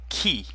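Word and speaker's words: qui: in French key means who repeat after me kee kee kee call means when notice that the D is silent and the a n makes our nasal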